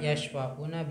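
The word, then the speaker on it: يشفعون: Betul bacanya. Yashfa'una apa yusfa'una? Yashfa'una bisa memberi syafaat.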